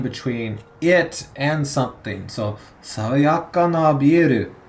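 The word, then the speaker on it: 爽やか: So sawayaka is a adjective, but you'll notice there's no E sound at the end there. No atarashi, it's sawayaka.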